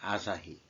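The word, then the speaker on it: 朝日: 그 발음을 어떻게 하는지 여러분들은 아실 겁니다. 아사히.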